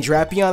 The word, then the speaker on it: Drapion: And if anybody you guys, if any of you guys are wondering why I'm saying Drapion, that's how they pronounce it in the anime.